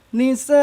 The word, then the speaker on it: نساء: Bunyi an berubah menjadi a yang panjangnya 2 harokat. Nisa.